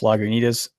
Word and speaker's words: Lagunitas: first one I had that was terrible was Lagunitas did I say it right you did say